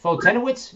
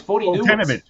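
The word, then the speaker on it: Foltynewicz: What is it? Fultonowitz? No, it's Fultonowicz. Fultonowitz. I called him Fultonowicz on the video, but I've heard it pronounced both ways.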